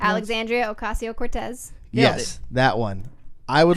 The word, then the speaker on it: Alexandria Ocasio-Cortez: Pronounced? Alexandria Ocasio-Cortez.